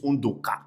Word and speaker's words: Undoka: that my name is Undoka. In fact, it's pronounced undoka in my own dialect. But when you go to the eboss, they say undoka.